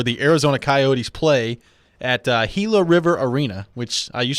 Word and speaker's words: Gila: Glendale, the city of Glendale in Arizona, where the Arizona Coyotes play at Gila River Arena, which I used to pronounce Gila River Arena. Apparently it's Gila River Arena.